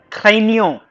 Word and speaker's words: craignons: You know, she told me, Pankaj, whenever you see G N together, you will pronounce it as near.